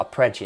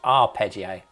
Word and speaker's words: arpeggio: someone commented so I now know how to pronounce our it's not a prio as I was saying it's our peggio thank you the person that put that in